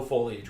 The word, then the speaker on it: foliage: there's no foliage whatsoever. Foliage. Thank you. It's pronounced foliage.